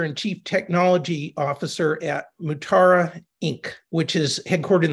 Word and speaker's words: Mutara: I had to watch a Star Trek movie video to check the pronunciation. Yeah, it's actually Mutara.